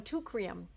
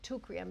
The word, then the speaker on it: Teucrium: Okay, now let's talk about the next one, tucrium. When cinna has not helped, and it's very rare that that ever happens, I have used tucrium.